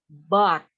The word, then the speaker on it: bought: Tulisannya B-O-U-G-H-T. Bought. Dibacanya but. Kayak tetapi. But.